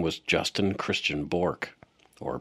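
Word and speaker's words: Bourque: name was Justin Christian borke or Burke I guess his father pronounces it that way so I will too it looks like Bor like Ray Bor a hockey player uh he is the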